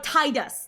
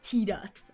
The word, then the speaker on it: Tidus: Uh uh oh, Tidus, not Tedus. Uh yeah, yeah, yeah, you pronounce it uh is it Tidus? I believe it is. Not Tetus.